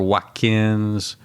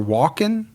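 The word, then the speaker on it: Walken: Yeah, I I remember hearing or watching something at one point that Christopher Watkins or whatever how you pronounce it. Christopher Walkin. Yeah, that's him. You just said Watkins.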